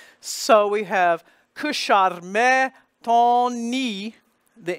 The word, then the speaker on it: ton: And then the next T is the first letter of a word, so it is pronounced, and it's spelled O-N. There is another nasal vowel, ton, But then we have